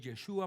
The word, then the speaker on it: Yeshua: es en su nombre y el nombre es yeshua masea El Mesías Jesús yeshua masea y entonces